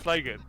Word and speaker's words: flagon: Wait, you love my pronunciation of flagon? Let's move on from Joe's hilarious pronunciation of the word flagon. What? It's not called flagon, is it? It's Yeah, called a flagon.